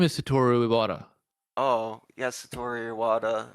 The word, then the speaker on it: Satoru: Just a nice naturey places like Mount Satori. Or like Satoru. I think my No, is it pun was Satori? missed. Isn't it Satori? Because that's how that dude's name is spelled. No, his name is Satoru Iwata.